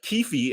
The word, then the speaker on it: Keffe D: only the guy uh kiefi as y'all telling me it's pronounced and I just heard them on the newscast but keefy is the only one